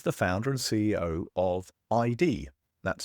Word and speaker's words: IDEE: Al is the founder and CEO of ID, that's spelled IDEE, a cybersecurity company focused on what